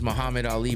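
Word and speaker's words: Mahamed Aly: His name is Muhammad Ali, but he spells it Mahamed, and Ali is spelled ALY.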